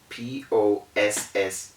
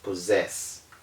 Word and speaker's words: possess: exceptions is the word p-o-s-s-e-s-s okay that word is not mentioned as possess it is rather mentioned as possessed this is the only time you can have the ss assuming the z sound and it is so